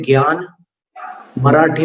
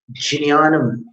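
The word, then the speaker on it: ज्ञानम्: जिन्यानम, ज और य दोनों का उच्चारण इसी से होगा, जिन्यानम। एक क्लिक जैसे ध्वनि होगी, एक हल्की सी आवाज आएगी, जिन्यानम। ज्ञानम नहीं, ज के बाद य नहीं है, ध्यान में रखना।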